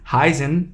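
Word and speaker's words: heißen: understand what is this it is pronounced as double s in german so this is heisen we heist do it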